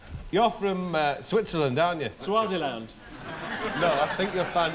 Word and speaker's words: Swaziland: Swaziland. No, I think you'll find it's pronounced Switzerland.